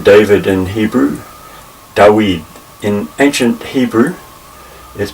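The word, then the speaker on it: דוד: name David in Hebrew da weed in ancient Hebrew is pronounced da weed the emphasis goes on the last syllable Joey and this letter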